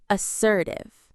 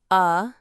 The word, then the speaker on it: assertive: You need to be our fourth word, assertive. Let's practice saying this strong word, assertive. The parts are assertive. The stress is on that strong sir sound in the middle.